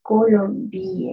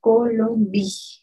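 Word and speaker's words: Colombie: Colombia bien bien la Colombia excelente atención porque en francés Es la cuando está al final de la palabra no se pronuncia Sí entonces Solamente pronunciamos hasta la ley la Colombia la Colombia Si la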